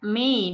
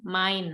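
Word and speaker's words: mein: name is itu ada huruf e i di tengah-tengah situ itu nggak dibaca Mei nama tetapi main nama kemudian Euro tadi contohnya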